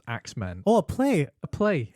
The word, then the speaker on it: X-Men: The play is called X-Men, but I think it's supposed to be pronounced Axemen.